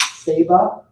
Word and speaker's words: Saba: My family pronounces it Saba, S-A-B-A.